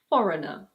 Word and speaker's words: foreigner: Similarly, this word in British English is pronounced: foreigner.